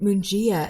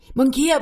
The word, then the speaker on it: Mungia: I am having a great conversation with writer, filmmaker Lance and Mungia. And so I pronounced your name wrong. Mungia, my God.